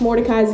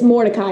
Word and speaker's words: Mori: you so much but everyone pronounces it Mori but it's morai uh whenever I named